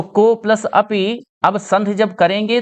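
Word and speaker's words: कोऽपि: अच्छा, कुछ लोग को अपि बोल देते हैं, को अपि नहीं होगा। को अपि में तो आ का उच्चारण हो रहा है, आ बदल गया है ओ में, तो ओ को थोड़ा खींच कर बोलना है, कोपि, ठीक है।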